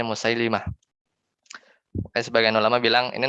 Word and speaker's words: Musailimah: ya al-qur'annya musai lama kalau baca Musailamah salah ya yang benar itu musailimah ya yang benar itu bacanya musailimah Mak Sebagian ulama bilang